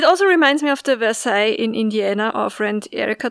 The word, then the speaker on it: Versailles: reminds me of the versailles in indiana our friend erica told us about yeah but they pronounce it verse sales first oh yeah right